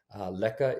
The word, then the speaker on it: Lekker: Lekka is spelled Lekker, and I've linked to the film in the description.